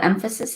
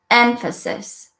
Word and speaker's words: emphasis: Can you hear where the emphasis is? It's here because I say it longer, emphasis. I say it higher, emphasis. I say it louder, emphasis.